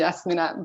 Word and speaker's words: Yasmina: Is it Yasmina? Yes, this is how I pronounce in my country, Yasmina, but Okay.